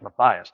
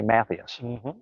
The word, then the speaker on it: Matthias: time ago never assume not only the name like matthias i say that because i remember at the volleyball state finals they pronounced stacy matthias's name stacy mattheus and you know greg